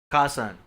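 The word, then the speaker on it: Kasaun: I don't know if I'm pronouncing that. Hey, Kasan. Kasan.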